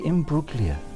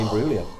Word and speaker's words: Imbruglia: Do you remember Natalie Imbruglia? Or Natalie Imbruglia? Yeah. With the soft G. Well, soft something. Mrs. GJ doesn't like a soft G.